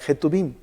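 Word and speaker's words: כתובים: escritos o las escrituras en hebreo es es la palabra que tuvimos aunque se pronuncia en realidad je tubing y aquí van los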